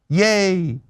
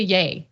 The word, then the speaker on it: Ye: But it's just Kanye shortened to yeah Kanye short DA.